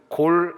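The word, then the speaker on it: גֹּל: 이 단어가 히브리 명령형으로 사용되면 골이라는 발음으로 그렇게 표현이 됩니다. 그래서 시편 37편 5절 원문은 골 알 야훼 이렇게 이어집니다.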